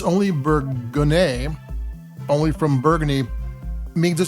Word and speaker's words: Bourgogne: Bourgogne is, and it's spelled here Bourgogne. That's how the French pronounce and spell the region.